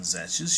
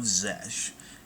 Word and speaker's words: Xesh: And when you know it, one of their top hounds, a man named Zesh, I think I'm pronouncing that right, his name is spelled Xesh, but basically he was sent to find a legendary, powerful world hidden deep in the core.